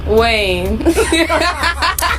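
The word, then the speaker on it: Kaine: candidate is Tim 90 rhymes with Bain Tim Wayne we hope you stay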